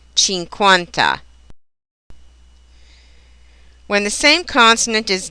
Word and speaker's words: cinquanta: The combination QU is always pronounced as KW, just as in the English queen or quest. Example Italian words would be quello and cinquanta.